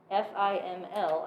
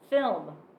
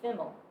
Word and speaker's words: FIML: what people say FIML, F-I-M-L, as an acronym pronounced FIML.